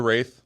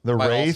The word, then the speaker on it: Wraith: the Wraith where they just tried saying race but couldn't? No. It's the Wraith.